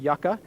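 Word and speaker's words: yuca: And then we threw in puto ham, monster cheese, and we threw in a yuka. Okay, some people pronounce it yucka.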